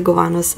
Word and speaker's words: Gowanus: is only available at the goat Cavanaugh's sorry I I know I pronounced that wrong at the Gowanus I'm scoop shop in